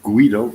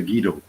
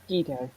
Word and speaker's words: Guido: correct well well uh if you pronounce it Guido it is the Italian way to pronounce it here in the rest of Europe we say gido gido gido okay yeah even I